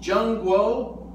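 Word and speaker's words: 中国: China is pronounced Zhengguo and America Meiguo.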